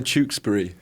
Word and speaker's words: Tewkesbury: how Americans say it, Tewkesbury. Oh wait, how are we supposed to say it? Well, I would say Tewkesbury, but you say Berry, and like my girlfriend would say Glastonbury, which I find hilarious.